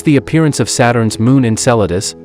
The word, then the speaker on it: Enceladus: This is the appearance of Saturn's moon Enceladus, pronounced NSELDS.